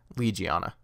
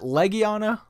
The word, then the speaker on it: Legiana: Or is it Legiana? I never honestly figured out how to say her name. Is it Legiana, like your leg, or is it Legiana, like the word legion? And whatever.